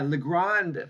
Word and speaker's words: Legrand: on just adjust the the French way that it should be pronounced uh Legrand is the global specialist